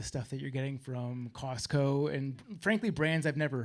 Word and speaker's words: Costco: Costco. Yeah, the T is silent.